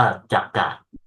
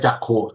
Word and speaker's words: จักขุ: บาลี ตาม คำ บาลี คำ นี้ อ่าน ว่า จักกะ เอ้ จักขุ โทษ ที นะ ครับ ตัว สะกด